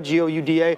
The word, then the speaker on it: Gouda: Most people pronounce it Gouda, G-O-U-D-A.